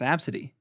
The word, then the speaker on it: ABCDE: It's pronounced Absidy.